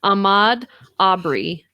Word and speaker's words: Ahmaud Arbery: I think it's Ahmaud Arbery.